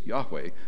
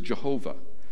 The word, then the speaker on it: Yahweh: am has sent you the Hebrew word there is Yahweh as best we can kind of phonetically spell it out um mispronounced for years as Jehovah um so so when